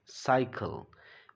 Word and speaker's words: cycle: This is साइकिल. पहला वाला तो स हुआ, लेकिन दूसरा वाला ये क हुआ.